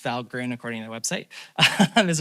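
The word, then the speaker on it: Valgrind: Uh so Val Grin uh it's pronounced Val Grin according to the website is another sort of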